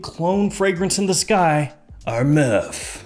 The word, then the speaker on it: Armaf: fragrance in the sky our meth that's how you say it properly or myth more specifically we're going to be